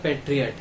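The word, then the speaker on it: patriot: हमारा जो next word है वो है पेट्रियट या फिर पैट्रियट। अब इसे दोनों प्रोनाउंस कर सकते हो, मतलब दोनों तरह से उच्चारण कर सकते हो।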